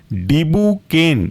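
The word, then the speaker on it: dibucaine: रोपी वे केन और चौथा एग्जांपल है आपका डिबू केन डिबू डी आई बी यू डिबू और केन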